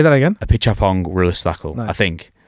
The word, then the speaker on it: Apichatpong Weerasethakul: Apichatpong Weerasethakul.